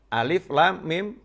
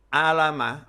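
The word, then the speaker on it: الم: Kita misalnya baru belajar membaca, tahu ada tulisan alam nasroh sama alif lam mim. Disandingkan alif lam mim. Karena tulisannya juga sama, alif lam ketemu mim. Di surat yang lain alam nasroh, alif lam mim nasroh.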